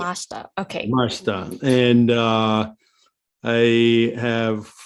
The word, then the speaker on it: Yamashita: One, my name is Yamashita. That's the best pronunciation. The I silent. So it's Yamashita.